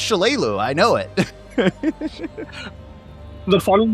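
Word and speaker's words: Shalelu: He was trying to pronounce her name, and I'm like, it's Shalalu.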